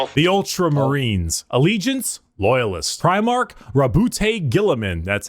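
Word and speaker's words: Roboute Guilliman: Primark Rabbout Gilaman.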